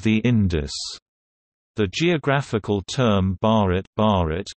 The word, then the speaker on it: Bharat: The geographical term Bharat, pronounced B-A-T, listen, which is recognized by the Constitution